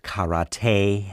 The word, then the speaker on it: karate: the whole point of karate to kick each other actually it's pronounced karate and there's a lot